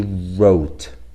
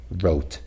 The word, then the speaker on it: wrote: we start with rap wrote so W here is silent we wrote this down in the back of the the instruction book so the little W in wrote is not pronounced the beginning sound is